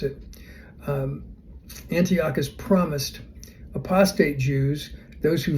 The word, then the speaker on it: Antiochus: Antiochus, sorry, I'm saying this name different at different times, but Antiochus is how you pronounce it. Antiochus promised apostate Jews, those who violated the covenant,